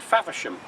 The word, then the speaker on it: Faversham: I mentioned Faversham earlier. It rhymes with Havisham.